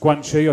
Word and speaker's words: Guanxi: Guanxi, as you can see, it's pronounced Guanxi.